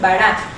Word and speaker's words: bara: B de burro, A, R, una R y una A, con acento en la A para saber en dónde va la fuerza de la pronunciación. ¿Ven? Bara.